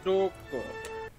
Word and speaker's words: Dooku: Count Dooku. Rhymes with Count Poopo.